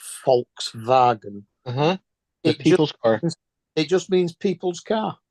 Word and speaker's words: Volkswagen: over again I mean Volkswagen in German is pronounced Volkswagen it just means people's car yeah yep it